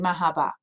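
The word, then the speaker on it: مرحبا: So it's no different than me saying mahaba.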